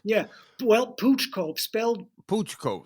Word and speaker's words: Pouch Cove: Yeah, well, Pooch Cove, Pouch Cove. spelled Okay. pouch, pronounced pooch, and no one really knows Okay.